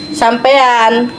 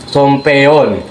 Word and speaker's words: sampean: kenapa itu sampean nggak dibacanya sompeyon? Karena kan katanya di Ya. Jawa Tengah tuh, Jawa Tengah Jawa Timur A tuh diganti pakai O. Soalnya itu apa ya, kurang enak aja didengarnya.